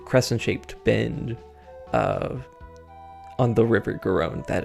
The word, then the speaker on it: Garonne: Again, I meant to look up pronunciations. Garonne, I believe.